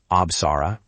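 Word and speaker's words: Apsara: Absara is Absara, and Naga is Naga. Try them aloud. Absara, Naga.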